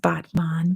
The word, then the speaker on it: Batman: city there called Batman I'm like yeah it's pronounced Batman but yes it's spelled exactly like Batman it's